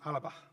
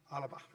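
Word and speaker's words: Alba: It's spelled I-L-B-A, but it's pronounced Alaba. Alaba.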